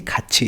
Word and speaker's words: 가르쳐요: अब जैसे ये है, अब इसको अगर आपको प्रोनाउंसिएशन किसी को पता नहीं हो रूल कि थ इसके बाद इसको खाथी पड़ेगा, लेकिन खाथी नहीं है, ये खाची है।